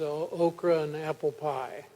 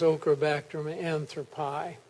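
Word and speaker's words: Ochrobactrum anthropi: remembered from the south that this bacteria was okra and apple pie Now Bob's taught me it's okra Baum anthropi but around the office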